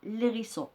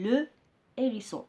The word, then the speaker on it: hérisson: Alors, on ne dit pas l'hérisson, on dit le hérisson.